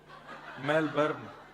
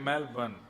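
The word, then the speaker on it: Melbourne: हमारे एक भैया बोले मेलबर्न, जो मैल को जला दे, मेलबर्न। मैंने कहा नहीं, मेलबर्न, र जो है वो साइलेंट बोलो।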